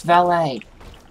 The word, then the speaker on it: valet: It's valet. There's, the T is silent. Like ballet.